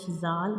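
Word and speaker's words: ذ: And in the case of zal, we also touch the tip of tongue to the edges of upper two front teeth.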